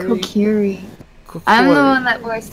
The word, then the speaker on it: Kokiri: I am part Kokori. Is that how you say it? Kokori? Kokiri.